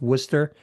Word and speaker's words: Worcester: So if you're not from here, you that's how you would pronounce it. But it's Worcester.